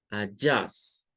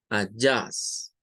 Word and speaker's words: adjust: En la palabra ajustes aparece primero en la A y aparece en la U. O sea, aquí hay dos schwas. Adjust. Adjust. Adjust. Con dos schwa.